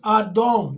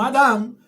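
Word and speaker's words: אדום: Rojo es Adón. No Adam, Adón.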